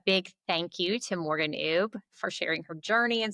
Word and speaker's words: Oubre: Yeah, so all of the platforms I'm going to say are are Morgan ub.